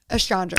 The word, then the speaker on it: Estranga: For everybody listening, Laganja Estranja. Astrange, right?